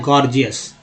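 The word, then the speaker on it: gorgeous: अब देखिए ये जो जी है, पहला जी जो है ग उच्चारण किया गया गौर, है ना। दूसरा भी जी है, छोटा स्मॉल जी है, जिसको ज उच्चारण किया है जीएस, गॉर्जियस।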